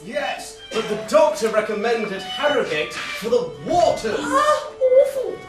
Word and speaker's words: Harrogate: at Harrogate. Oh, sorry, Harrogate Tyne. The third Tyne in Yorkshire, where the H is pronounced.